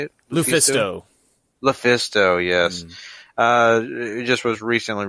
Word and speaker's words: LuFisto: Lufisto, yes.